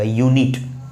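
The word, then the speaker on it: unit: नहीं, इसको पढ़ेंगे तो पढ़ने में यहाँ पर ये यति का यह साउंड देगा, यूनिट।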